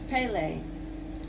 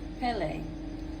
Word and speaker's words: Pele: Oh, it's Pele. Pele. So it's spelled P-E-L-E, but the pronunciation is P-A-Y-L-E.